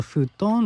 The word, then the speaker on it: futon: The version of the futon we use in the West is quite different than what we do here in Japan. Pronunciation is different too. In the West, you often hear it as futon, and they're like a